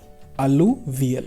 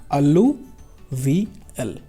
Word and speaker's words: alluvial: Now let's come to the first type of soil, इसको बोलते हैं एलुवियल soil, ALLU, ALLUVL, alluvial. Try to pronounce it by your own.